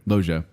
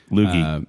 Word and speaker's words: Loggia: Loggia. Loogie.